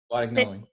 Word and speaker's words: Guadagnoli: Guadagnoli.